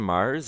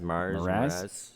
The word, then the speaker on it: Mraz: it Jason Mars? Is that how you say his name? Mraz? Mraz.